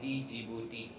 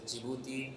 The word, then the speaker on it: Djibouti: of you even I used to call it Djibouti so the pronunciation is jouti and not Djibouti so that is the time I first went